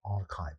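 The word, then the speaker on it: arXiv: A lot of AI technology breakthroughs are also published freely on the internet on this website called Archive, spelled like this.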